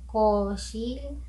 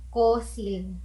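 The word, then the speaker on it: 거실: So koshil, koshil, koshil means living room or sala. Living room, koshil. So hindi mo siya pwedeng bigkasin as kosil, kosil. So iba na ibig sabihin nun. So H, SH ang sound value ng shiot natin sa word na koshil.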